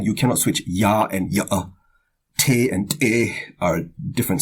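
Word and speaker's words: yá'át'ééh: So in the word yate, every syllable is high, so you have to maintain a high pitch throughout the word. Yate. Alright, and the H at the end of the word is pronounced like a soft breath.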